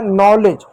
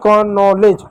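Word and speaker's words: knowledge: जैसे बच्चों को बोला जाए नॉलेज। नॉलेज की स्पेलिंग लिखो।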